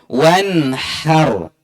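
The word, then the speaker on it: وانحر: Maka beda pengucapan bisa menyebabkan beda makna. Wanhar. Ro-nya ditebalkan. Wanhar.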